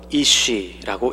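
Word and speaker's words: איש: 남자는 히브리 말로 이쉬라고 읽습니다. 여자는 이쉬아인데 이쉬 뒤에 아가 더 붙어 있는 형태입니다.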